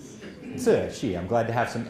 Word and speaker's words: Cixi: So she is the Dowager Empress Cixi. Cixi.